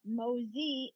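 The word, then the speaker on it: Mauzy: Mo crazy and um then crane mosy the mosy is French so it's m Au U zy um and a lot of people mispronounce it and the announcers would say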